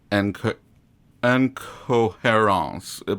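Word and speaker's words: Incohérents: This one was called Les Incohérence, but it's spelled like incoherence.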